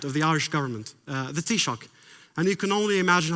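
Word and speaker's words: Taoiseach: by the head of the Irish government the t-shock and you can only imagine how I butchered the pronunciation of this word first time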